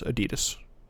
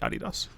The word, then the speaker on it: adidas: it's fun um i i the way i pronounce that is adidas i actually don't say adidas just putting that out there uh this head's